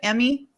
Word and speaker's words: Emy: emmy hello hello hi thank you did i pronounce that right emmy you did yep short and sweet awesome thank